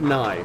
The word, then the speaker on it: Nye: Mark Nye. Like Nye the science guy.